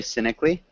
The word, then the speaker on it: cynically: maybe we could say cynically cynically cynically yeah cynically you were right the first time it's um so we don't really pronounce that a so it's just cynically okay yeah so he's